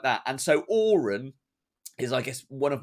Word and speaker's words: AOREN: And so Auron is, I guess, one of my foundation ones, and it's a mnemonic. And it's spelt a bit weird.